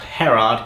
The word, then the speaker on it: Gerard: phil white and gerard I think he's pronounced Harrod cos he's Dutch doctor please correct me